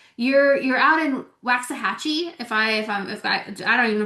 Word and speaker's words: Waxahachie: Like you're out in Waxahachie. If I don't even know if I said it right. Uh, Waxahachie.